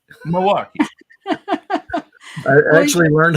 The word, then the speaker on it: Milwaukee: Milwaukee never put the L in it right Milwaukee Milwaukee I actually learned how to say it after